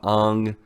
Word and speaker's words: Aang: Like, they went from Aang to Ong, Iroh to Iro.